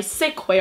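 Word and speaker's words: Ksubi: these from kee Australia it's the first time I sick way Australia because so many people told me that's how you say it then I see all these other youtubers calling a key Australia so you know what surely it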